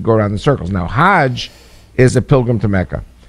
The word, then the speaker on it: Hajj: Now, Hajj is a pilgrim to Mecca. Hag is the Egyptian pronunciation. Hag in Hebrew means a holiday or going around in circles.